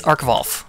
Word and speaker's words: arcvvolf: It's easy to pronounce. It's arcvvolf. A-R-C-V-V.